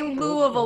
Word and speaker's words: Louisville: It's like you say Louisville like you've got marbles in your mouth.